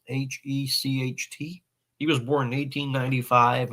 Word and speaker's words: Hecht: I think that's how you pronounce it, Hecht.